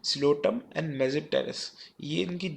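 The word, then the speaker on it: Psilotum: है इसमें जो है व प साइलेंट है लोटम एंड मेप टेरेस यह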